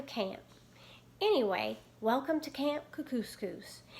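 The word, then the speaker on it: Kookooskoos: anyway welcome to camp kuku scoops it rhymes with moose that's another good thing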